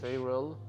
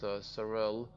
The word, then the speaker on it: Sarel: Sayrel, not Sarel. I mean, I don't know if that's a American way of pronouncing it, but I prefer to think it's properly pronounced Sarel, but yeah.